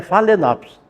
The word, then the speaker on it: Phalaenopsis: Escreve Phalaenopsis e pronuncia Phalaenopsis.